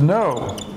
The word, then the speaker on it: know: when we say no and the K of silent both the K and the W are silent because it's just no it's what we say and no the sound of that word no it's the same thing as the negative no sweating so if if